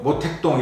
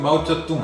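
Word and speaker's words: 毛澤東: 근데 중국 발음은 시진핑이잖아요. 저희들 어릴 때 배울 때는 뭐 모택동 이렇게 표현, 지금 마오쩌둥 하잖아요.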